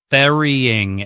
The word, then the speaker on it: burying: For the verb berry with the letter U is pronounced the same as the fruit berry with the letter E. Berry, berry. The letter U causes many of my students to say borean or burying. So that's incorrect.